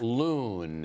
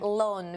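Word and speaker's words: loen: Loon, which, I mean, I don't know exactly how do you pronounce it in Dutch. Right. But it's spelled L-O-E-N.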